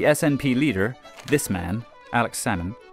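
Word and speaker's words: Salmond: leader this man Alex sammon you don't pronounce the L like with the fish became Scotland's first Minister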